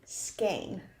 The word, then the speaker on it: skein: our second to last one is a skein. Skin. Skein. Skein. I just put it in the chat. That's how it's spelled.